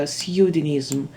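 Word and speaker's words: pseudonym: Seudens. Seudens. P у нас не читається. Seudenism.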